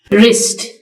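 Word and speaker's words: wrist: भी लिख देती हूं इसमें रिस्ट यानी कलाई इसमें डबल साइलेंट है बम बम में बी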